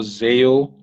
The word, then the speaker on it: Zeyoe: my full name on LinkedIn Zeo so there's with